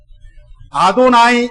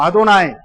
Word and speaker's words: 아도나이: 그 발음을 못하는 것도 있고 또 잃어버려서 그 발음을 어떻게 해야 될지를 몰라서 아도나이 이렇게 읽습니다. 따라서 하겠습니다. 아도나이, 히브리어로 나의 주님 이런 뜻이에요.